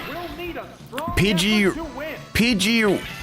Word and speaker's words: Pidgey: Pidgey rhymes with fridge.